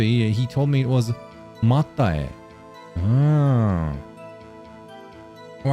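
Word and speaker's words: Máté: There was a Hungarian guy I used to know called Mate, and I pronounced it like... Is it Mate? And then you pronounce it Marte?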